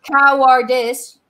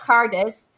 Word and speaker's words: cowardice: We've got Cowardice. You've got Cardis. Cardis. Owl, two syllables. You've got one. Owl. Par. Power. Two syllables. You've got one. You miss a syllable.